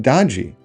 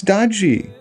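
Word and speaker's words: DOGE: of this group is pronounced the long e it's Dody it's the brand name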